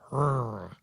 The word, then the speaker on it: HRRA: How would you pronounce that? Hurrah.